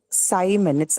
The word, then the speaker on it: Simon: should be there in Simon as well. But we're saying Simon, it's I, not E, right? It's written as I using the letter I, but it's not pronounced E. It is pronounced I.